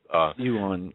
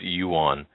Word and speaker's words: yuan: But by the way, that's yuan. Yuan. Otherwise, I get emails saying, you know, what's your problem with pronunciation with some of these? It's yuan. And to Charlie, who has sent me, I think, 5 or 6 emails about my pronunciation of that. Yuan.